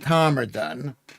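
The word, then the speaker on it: Todmorden: So, Judel says it's called Tomerdon, but it says on the thing it's Todmerdon. They don't pronounce it that way, says Judel.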